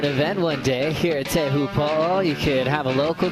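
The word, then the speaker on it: Teahupo'o: But sometimes in surf slang, the name of the surf spot, you'll still hear locals call it chopes or even chopu, but technically speaking, teu po uh with the village here uh with great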